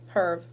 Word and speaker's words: herb: Yeah, so the rosemary is a very spiritual herb. Not herb. Herb. Sometimes H is difficult in English because sometimes you have to pronounce it, sometimes not, and sometimes I forget which words you have to pronounce them.